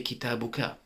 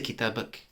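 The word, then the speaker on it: كتابك: to a man, you would say kitabuka, right? But in less formal Arabic, you just say kitabak.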